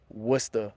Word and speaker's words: Worcester: If you look it up in the dictionary, it says there's 3 separate pronunciations. There's Worcester, and they're kind of a Worcester with a U, and then what I would say would be the total locals, like Wicked, Worcester, right?